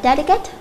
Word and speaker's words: delicate: Câu đây chúng ta đọc là delicate. Thì đuôi ATE là trọng âm có rơi vào thứ 3 bắt đầu kể từ nó.